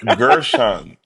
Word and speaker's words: Guerschon: feel you, but listen, it's like Gershon, so it's not W. It's like Gershon, not Gershon.